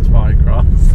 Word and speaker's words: Twycross: usual name places around I feel like I'm not pronouncing my arms properly when I say Twi cross but apparently it is Twi cross um so that's our